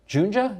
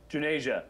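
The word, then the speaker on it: Juneja: and you're going to tell me how to pronounce Manisha's last name. The digital health futurist Manish Junja, is that how you say it? Junasia.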